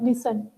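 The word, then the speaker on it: listen: Pronunciation में आप लोगों को इशू मतलब सही से प्रोनाउंस ना कर रहे हो, जैसा लिसन, लिसन में टी साइलेंट होता है, ठीक है।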